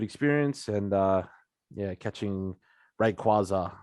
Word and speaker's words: Rayquaza: found that recently it's rayquaza no way yeah i found out recently too i've been calling him rayquaza for years but it's rayquaza as in quasar there's quasars in space